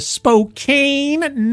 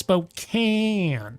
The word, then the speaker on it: Spokane: son oh my God Spokane no Philistine it's spok can and their names J